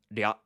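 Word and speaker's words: rya: So we spell this R-Y-A, and it's pronounced ria.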